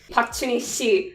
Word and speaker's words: Park Junhee: Park Chuni Shi, which is like the formal way to say his name in Korean.